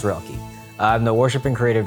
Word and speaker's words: Roelke: corner and been like how do you say his last name it's pronounced rocky i'm the worship and